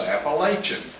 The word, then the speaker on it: Appalachian: And if you don't agree with that, then you know that our wise and greatly involved state legislature passed a law last week that the correct pronunciation was Appalachian, just like Charles said.